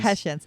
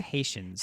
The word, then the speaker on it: Hessians: And so I actually look up how to pronounce, and then I type it in. Yes. And it's the Hessians. Hessians. So King George she kept saying III the Haitians.